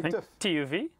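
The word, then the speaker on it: TÜV: monitors there's also 2uv how do you say this in english stuff we say tuv tuv yeah tuv certified then we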